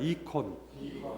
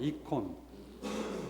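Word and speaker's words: εἰκών: 이콘. 네, 이콘. 그리스 말로 이콘은 담는다 그런 뜻이에요. 그러니까 하느님을 담는 그런 그림을 그린 거예요, 여러분. 성모님을 닮은 모습 담다. 영어로 옮기면 아이콘입니다, 여러분.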